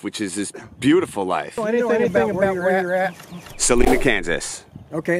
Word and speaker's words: Salina: through in life which is this beautiful life Salina Kansas okay it's pronounced Salina okay I didn't know that was we got